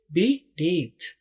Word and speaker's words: beneath: तो NEETH, नीथ, बी नीथ। आपने spelling ये वाले याद रखने हैं, BENEATH।